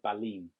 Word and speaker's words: Ballin: If his next, it's spelt Ballin, but he pronounced it Ballin.